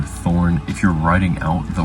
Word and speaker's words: Thorn: Pay attention that I said it's pronounced Thorn with the th sound, not the sound, which is what this next one is called, ETH.